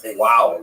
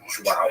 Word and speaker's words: João: I used to think it was wow, like when the baby was born, the mother would say, oh, wow, it's a boy. But it's actually João.